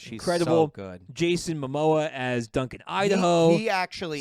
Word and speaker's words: Momoa: You either say MoMA or Momoma. It's Momoa.